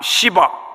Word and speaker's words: 시바: 앞에 시의 액센트를 확 시바 이렇게 봐.